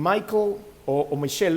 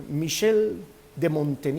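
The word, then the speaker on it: Michel de Montaigne: dios por supuesto en michael mitchell lo voy a pronunciar como debe ser michelle de mountain y es un escritor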